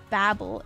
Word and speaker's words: Babel: The city is Babylon, but the Tower of Babel is pronounced differently.